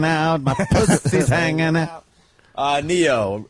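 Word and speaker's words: Ne-Yo: Neo. Is that how you say it, Travis? Yep.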